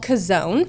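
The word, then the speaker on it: Chazown: a an experience called kazon at church and it's really worth it it's called kazon okay just because not Casona church right it's just called because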